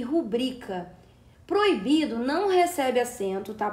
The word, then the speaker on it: rubrica: E o certo é se pronunciar rubrica e não rúbrica.